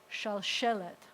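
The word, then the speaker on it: שלשלת: And the accent, one of the things that happens whenever you have a segolet is the accent is always on the first eh. So this word is shalshelet.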